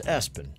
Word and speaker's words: ESPN: ESPN is how it is spelled. So pronounce Espen.